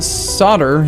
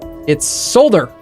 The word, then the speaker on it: solder: this production if they wanted it to be pronounced solder they should have spelled it s a wde